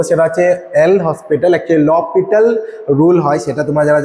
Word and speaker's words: L'Hospital: কি ল হসপিটাল rule normally এটার উচ্চারণটা ল পিটাল রুল হয় আমরা ল হসপিটাল রুল হিসেবে লিখি আচ্ছা কি আছে রুলটাতে কেন